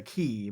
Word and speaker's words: Cay: we had to read a book called the key but it was spelled decay and i think i was told in fourth grade that it's pronounced key even though it's pronounced k very good okay